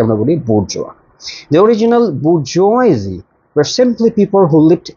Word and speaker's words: bourgeois: Alright, the very next word is bourgeois. Bourgeois. Bourgeois. Don't pronounce the S and the end.